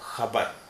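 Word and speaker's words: ख़बर: शब्द है खबर खबर यह खबर नहीं है बहुत सारे लोग इसे खबर खबर बोलते हैं खबर को खबर बोलते हैं यह सही प्रसन सही उच्चारण है खबर खबर खा ही ट साउंड है खबर यह है खिलौना खिलौना य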